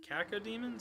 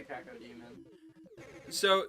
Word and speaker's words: cacodemon: The floating eye, big mouth thing makes me think of the cacodemons. I think that's how you say it.